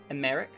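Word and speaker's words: Aymeric: the the the um the emphasis is on the first syllables it's america america oh i see americ um like cleric americ um also he's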